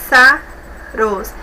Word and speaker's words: pássaros: Pássaros, observe, é uma palavra que possui 3 sílabas também. Veja só, pássaros.